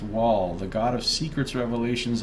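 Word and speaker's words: Wael: fan of Galloway now whale or wall as it's pronounced wall the god of Secrets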